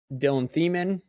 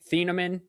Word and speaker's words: Thieneman: Do you go safety in Dylan Thiemann? I said his name wrong. Thieneman from Oregon.